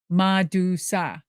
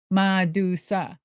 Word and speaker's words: Madusa: So I needed a name with syllables that Japanese it could just roll off. Madusa, Madusa. I needed something powerful, strong, American, MAD, USA, made in the USA.